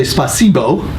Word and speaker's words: спасибо: So how do I spell that? Okay, it's SPASIBO.